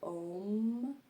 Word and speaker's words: Om: On va répéter Om 3 fois. Ça se chante en 3 syllabes, donc c'est Aum.